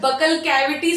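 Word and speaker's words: buccal cavity: से लेते हैं मतलब बकल कैविटी से लेते हैं इस पोर्शन को हम बकल कैविटी कहते हैं या बुकल कैविटी कहते हैं कुछ कुछ प्रोनाउंस करते हैं कुछ बकल कैविटी कुछ बुकल कैविटी म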